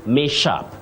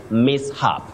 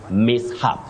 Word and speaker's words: mishap: let us avoid saying mishap. Mishap, no. The S and H are pronounced separately. You say mishap. If you can see the phonetic transcription right here, you say mishap.